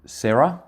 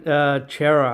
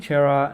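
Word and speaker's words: Cerra: So you think Adam Serra? It's Adam Chera, I think, even though it's spelt Sarah.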